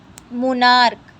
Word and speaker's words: monarch: Next rule is, if the word ends with ch, but pronunciation of ch is ka, add s to make plural.